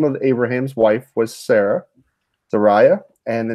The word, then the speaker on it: Sarai: How do you say Sarai?